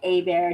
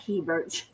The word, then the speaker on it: Hebert: yes it is pronounced a bear not Hebert and it's cuz it's French yes cuz our family